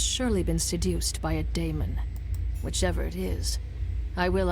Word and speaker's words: daemon: It's pronounced daemon, not demon.